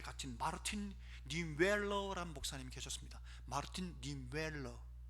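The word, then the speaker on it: Martin Niemöller: 마르틴 니웰러, 독일어가 좀 우리하고 좀 다릅니다. 발음하는 게. 마르틴 니웰러.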